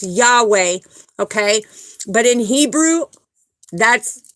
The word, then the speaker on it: Yahweh: It's Yad He Vahe, which here in America, it is pronounced Yahweh.